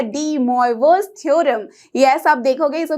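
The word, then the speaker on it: De Moivre: यस, तो ये बोलने में थोड़ा डिफरेंट है बट एक्चुअली ये फ्रेंच नाम है, इसलिए हम इसे इस तरह से प्रोनाउंस करते हैं, डी मोइवोस थ्योरम।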